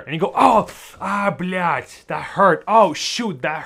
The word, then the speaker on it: блять: Another word that comes from this one is блять, but with a different spelling. They are pronounced the same way, but this one has a D at the end of it.